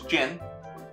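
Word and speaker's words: Jyn: see you mispronounce it jenn-air so close Jin yeah you said giant no as a Jin I don't remember where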